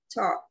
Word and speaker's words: talk: Talk. Talk. Igualmente, ¿no? Sin pronunciar la L. Talk.